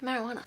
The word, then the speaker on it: marijuana: I mean, it's kind of got a J, but it doesn't sound like it's got a J. Marijuana. I feel like it's got a W. It's spelled pretty weird.